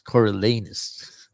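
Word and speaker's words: Coriolanus: we were laughing at the last syllable of his name is sounds like anus coralus uh snow President Snow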